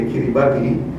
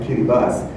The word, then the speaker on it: Kiribati: It's spelled differently, Kiribati. You and I will say Kiribati, which is what I did. And he said, no, the local people call it Kiribati.